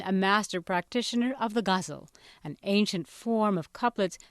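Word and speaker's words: ghazal: GHA a z l is there are various pronunciations I've learned when I came to the United States I heard people saying kazal and that kind of stuff but then I start saying no it's gazel because that's how they said it in Udu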